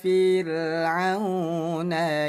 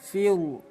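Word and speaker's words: فرعون: Jangan dibaca tebal fil, tapi fir. Tipiskan bunyi ro, disebutnya ro tarkik. Ila fir'auna innahu.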